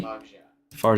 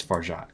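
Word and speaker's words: Fargeat: doing very well I is it far or farat can we can we confirm that pronunciation far cor far Kali far farat okay not far it's farat gotcha Baker's overrated H I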